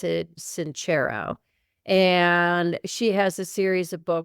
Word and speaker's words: Sincero: I think you pronounce it Sincero.